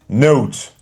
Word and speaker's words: note: When you add E, you don't read the E, but the sound of the vowel before it changes.